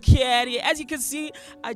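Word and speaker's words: Cattor: Your boy C-A-T-T-O-R pronounced Caddy.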